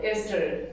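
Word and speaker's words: ester: एस्टर इसके दो pronunciation है। ईस्टर बोल या एस्टर बोल।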